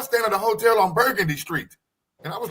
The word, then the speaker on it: Burgundy: Burgundy, you know, because even though it's spelled the same way, we say Burgundy.